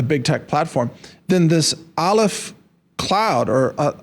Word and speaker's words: Aleph: tech platform, then this ALF cloud or alif like what's the easy way to pronounce it? A alf Okay.